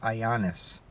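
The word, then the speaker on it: Ioannidis: It's spelt like IOANNIAIS or something, but he pronounced it Ioannis.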